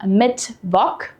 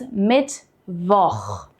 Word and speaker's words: Mittwoch: Pay attention here that it's not Mittwoch. We don't pronounce CH as a K here. It's Mittwoch.